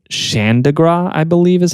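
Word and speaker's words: Chandigarh: They had this uh uh this capital city that that was planned capital city uh called Xandigra I believe is how you pronounce it and they were like build the whole thing.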